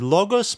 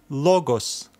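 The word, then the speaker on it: λόγος: this is a word logos meaning word this is our accent which means that we will need to stress this letter this syllable as we read it first let's name every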